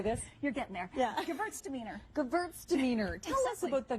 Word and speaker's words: Gewürztraminer: Gewürztraminer.